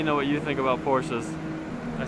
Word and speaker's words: Porsche: You guys let me know what you think about Porsches.